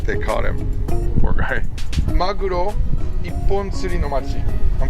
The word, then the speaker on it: maguro: A magura. Magura? Is that a type of fish? I don't know. Maguro? Maguro. Very good.